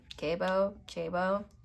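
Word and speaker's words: Gebo: I'm going to say it wrong probably, but it's spelled G-E-B-O. So like Jabo, I don't know.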